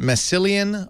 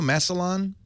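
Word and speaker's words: Massillon: I usually am pretty good, but is it Massilian, Ohio? Masselon. Close, but no cigar. It's mass.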